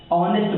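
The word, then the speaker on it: honest: तो ए होना चाहिए लेकिन यहां देखिएगा ऑनेस्ट क रहा है तो इसका होगा औ और औ जब आएगा तो उस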